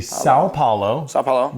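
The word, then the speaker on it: São Paulo: we are going to SEO palalo uh Grand Prix in Brazilian one more try Sayo poino it would be sa paoo Brazil you nailed it braz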